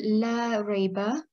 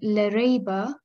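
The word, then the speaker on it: لا ريب: a word, for example, la rayba, It means no doubt. But when we do not prolong the word Allah and we say instead Lareba, that means show doubt.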